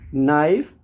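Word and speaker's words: knife: जा सकता है कि के और एन में के को नहीं प्रोनाउंस करना है उसका उच्चारण बिल्कुल नहीं करना है आपको एन से करना है नी नाइफ और एनल्स अब बात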